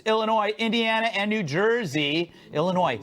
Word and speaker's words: Illinois: Indiana and New Jersey Illinois silent s I found out meanwhile